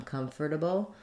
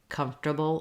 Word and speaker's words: comfortable: it it um and in the dictionary it's probably going to show you this um comfortable um with all four syllables but we typically would say comfortable or comfortable um I like this one this is the one that I use um but uh of